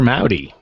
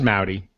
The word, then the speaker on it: Maute: my name is Maui that's like howdy with an M that's how it's pronounced but it's spell like sauté with an M that's me with mate or maoui it's pronounced maoui but it's spelled like